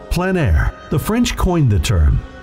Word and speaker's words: plein air: of outdoor painting, called plein air. The French coined the term, which means open air or outdoors. The French pronounce it plein air. Others say plein air. No matter how you say it, there is a